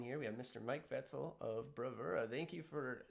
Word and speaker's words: Vetzal: on our line here we have mr mike vetzel of bravura thank you for jumping on am i pronouncing that right you know what i think